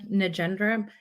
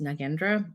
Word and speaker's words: Nagendra: can my name is nendra also it's pronounced nagendra but I have been using both lately my name is